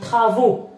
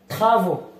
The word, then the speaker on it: travaux: travaux هذه كلمة كتفرق. تخا ديما لماذا تنطق خا؟ لأن قبلها الحرف تي. فوالا الحرف تي. فو هذه كاملة كتقرا او. اكس كتقرا او. دونك ترافو. اوكي، ترافو أشغال.